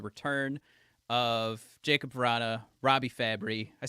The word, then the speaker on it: Fabbri: to discuss the return of Jacob perrotta Robbie fabry I said it right this time uh ah